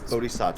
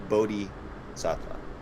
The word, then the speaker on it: bodhisattva: but they but like when i when all the pronunciation things that i've clicked on here it kind of has not like a long eye sound it has like a short like boda bodhisattva or bada i think both are right anyway it